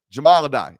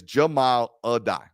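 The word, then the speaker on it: Jahmile Addae: Jamal Adai, and it is Jamal Adai.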